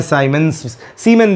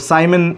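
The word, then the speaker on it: siemens: मो भी कहते हैं, सीमेन भी कहते हैं, या कुछ लोग साइमन इसको प्रोनाउंस करते हैं, देख लेना भैया।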